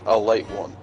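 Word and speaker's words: Ale-8-One: the number one uh or its preferred pronunciation a light one okay um it's a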